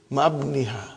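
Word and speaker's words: مع ابنها: But remember, Ibni has got hamzatu wasal. We cannot pronounce it. How will you say? Ma'abniha. Ma'abniha.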